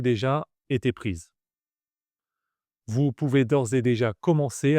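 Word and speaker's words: d'ores et déjà: Attention à la prononciation, il faut bien faire la liaison entre or et d'ors et déjà.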